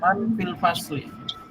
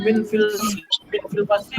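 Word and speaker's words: مَن: Jadi jangan dibaca di sini kan tulisannya fasli, bisa saja antum membaca min fil fasli. La taqra hakadza li'annahu ghairu munasibah. Ya, karena nggak cocok kalau kalian bilang min nggak akan cocok. Tapi kalau dalam kalimat ini yang cocok adalah man fil fasli. Ya. Jadi cara bacanya itu dicocokkan sesuai kalimatnya. Man fil fasli. Jadi bukan min fil fasli mana artinya enggak ada artinya.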